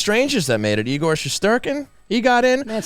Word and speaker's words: Shesterkin: And also a goaltender over on the New York Rangers that made it, Igor Shesterkin. He got in. That's how you pronounce it.